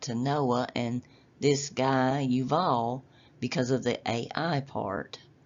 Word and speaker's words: Yuval: Well, my immediately my mind went to Noah and this guy Uval because of the AI part. And when you look at his name in Hebrew, it's yuval.